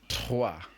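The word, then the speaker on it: trois: two is do very good three three is TWA very good four four is card five is sink again think this is pronounced sis sis seven set set eight is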